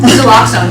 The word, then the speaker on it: Naloxone: Since what is the name, how do you pronounce it again? Naloxone, you're correct.